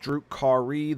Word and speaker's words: Drukhari: Drukhari, pronounced Drukhari.